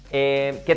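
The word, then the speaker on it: queue: ¿Qué tal esta?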